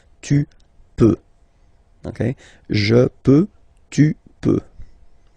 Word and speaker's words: peux: Okay, then tu peux. Same pronunciation and same spelling or writing. Okay, P-E-U-X. Okay, you don't pronounce the final X. Tu peux.